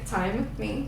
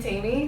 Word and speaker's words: Taimy: a tinker so I my name is tiny again time because people start you know questioning that um asking how to say it I literally had a friend that was calling me Tammy like for a year